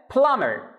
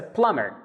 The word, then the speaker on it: plumber: Number 9, a plumber. A plumber. You can see there's a B, but we don't pronounce it, so it's a plumber.